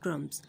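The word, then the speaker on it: crumbs: The bird is eating bread क्रम्स। अब यहाँ पे बी जो है वो हमारे पास साइलेंट है, तो मैंने इस वर्ड को सर्कल करके साइलेंट लेटर को अंडरलाइन किया है।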